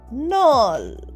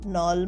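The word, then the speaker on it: knoll: অন্তরবাস নিয়াল প্লেং cricket next K এন ওল নল নল মানে ছোট্ট পাহাড় বা একটা ডিপি স অন গ্রাসি নল উচ্চারণটা কিন্তু মনে রেখোল নয় নল এনটা শুধু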